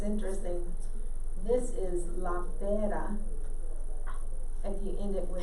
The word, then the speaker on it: pera: La pera. P-E-R-A. La pera. What we learned in my class. Oh, it's interesting. This is la pera.